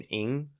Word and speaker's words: Ng: So in the states usually it's Ing, but in the um the Southeast Asia they would pronounce it Hung.